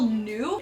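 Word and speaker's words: ν: copying errors are removable new it looks like a V but it's a Greek letter that is pronounced like n so I'm just showing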